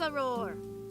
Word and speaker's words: Auror: Auror. Is that how you pronounce that? Auror. She rolled her eyes dramatically. You act like I have more than one ex. Of course, it's Auror.